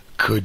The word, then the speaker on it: could: could you this means could you the L is silent so also w o